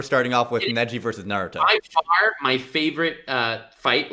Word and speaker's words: Naruto: going to snap so true let's start with naruto yes thank you for pronouncing naruto correctly bro i always do um